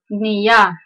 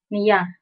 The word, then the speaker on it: niya: When you see N-I-Y or N close to Y, it's pronounced as the Enye, Nya, Nya.